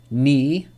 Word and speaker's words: knee: So K is not pronounced when it comes before an N at the beginning of a word. Examples. Knife, knee, no, knock, knowledge.